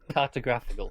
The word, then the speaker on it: cartographical: Because before it's a cartography, it's on the tog. Yeah. Whereas now it's I was trying to do the emphasis on the first bit so much that I forgot the rest of the word.